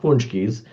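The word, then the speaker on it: pączki: a c z but they're pronounced punchies and you talk about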